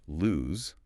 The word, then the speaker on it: lose: Pronounced with a z's sound.